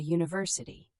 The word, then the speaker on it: university: Use a before consonant sounds, a book, a car, a university.